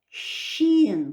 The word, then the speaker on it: шин: Ох, щин. Буква Ш в чеченском языке читается она мягко, как буква Щ.